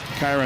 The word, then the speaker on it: Kyra: Kyra, not Kira.